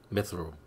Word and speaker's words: Mithril: I never knew how to pronounce this. Mithril, that's what it is.